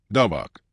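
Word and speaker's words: דבק: ruta con Noemí es el verbo daba pronunciado dabak.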